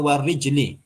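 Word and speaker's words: وَرِجْلِ: kepala warijli dan kaki itu diharakati itu nanti kebacanya warjuli kalau arjul maknanya lain arjul maknanya laki-laki orang laki-laki tapi di situ artinya apa yang dimaksud kaki kalau kaki artinya maka bacanya warijli aljarah warij alar anggota badan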